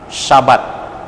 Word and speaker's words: Shabbat: Dan kata istirahat, ya, dalam bahasa Ibrani Sabat, ya, S-H-A-B-A-T, Sabat, terkait dengan kata benda Sabat dalam bahasa Ibrani itu Shabbat, S-H-A-B-B-A-T, ya, itu dia punya ejaan.